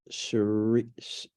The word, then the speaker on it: Cherise: I'm going to make sure I'm pronouncing this right. Is it Charisse?